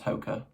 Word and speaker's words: Hoka: I'm pretty sure you pronounce Hoka.